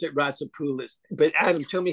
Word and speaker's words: Roussopoulos: you pronounce his name I I pronounce it rapis but Adam tell me how you pronounce your last name ropolos but I accept I accept all pronunciations I